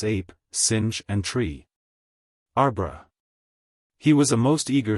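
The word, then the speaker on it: arbre: in the same way he was taught to pronounce ape sing and tree arbra he was a most eager student and in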